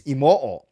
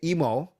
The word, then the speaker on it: Imoo: It's technically it's Imoo because it's IMOO, and each O is its own syllable. And in Japanese, you actually pronounce every single syllable. So technically, my name is Clay. Actually, my full name is Clayton Sean Imoo. But I say Emo instead of Imoo. I say Emo like Nemo, but I get a